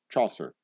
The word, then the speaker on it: Chaucer: Chaucer. Whatever. He's Rhymes with saucer.